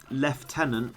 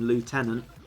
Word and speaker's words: lieutenant: view of you know someone saying leftenant when there's no effing lieutenant annoys me that is one American pronunciation I definitely agree with